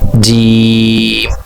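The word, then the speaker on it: جيم: এর উচ্চারণ হবে একটু টান দিয়ে, অন্যান্য অক্ষর থেকে একটু টান হবে 4 আলিফ, যেমন উচ্চারণ হবে জিম।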